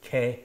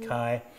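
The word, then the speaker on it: καί: did ancient Greek um you already had the ITA being pronounced as an e Alpha Iota being pronounced a so it be K not Kai um and so when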